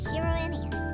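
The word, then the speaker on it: Shirou Emiya: Shirro Emia. No, that's wrong. It doesn't sound like Western names. You pronounce it Shirro Ma.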